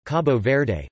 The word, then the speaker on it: Cabo Verde: Cape Verde listen or Cabo Verde listen Portuguese Cabo Verde pronounced kibou bed officially the Republic of Cabo Verde